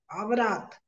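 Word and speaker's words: عورة: और जो अरबी शब्द है वो अवारात, आवरात। औरत नहीं है, आवरात, AWRAT, अरेबिक शब्द है।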